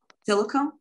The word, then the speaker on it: Tilikum: Did I pronounce that right, Tilikum? Tilikum?